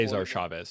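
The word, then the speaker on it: Chávez: Cesar Chavez, not Caesar. Sorry. Yeah. I had to do that.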